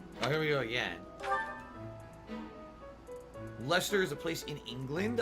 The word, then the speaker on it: Leicester: knew it was pronounced lester because it's a lot of silent letters there that would be pronounced lyster if that were accurately pronounced you know proper english but apparently it's something different lester they completely skip a